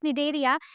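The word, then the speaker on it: Cnidaria: We pronounce it nidaria, but C जो है वो silent है।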